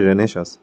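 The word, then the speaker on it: Renaissance: সেখানের মধ্যে কারেক্ট ও যেটা প্রোনাউন্সিয়েশন হচ্ছে সেটা হচ্ছে রেনেশাস, তো রেনেশাসের কারেক্ট স্পেলিং কোনটা হবে?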